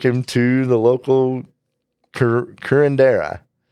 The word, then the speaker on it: curandera: Folk killer, how do you pronounce it? Working on that. Cure- Curendera. You might Curandera.